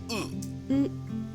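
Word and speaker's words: う: It's the equivalent of the vowel U in English. You pronounce this as U.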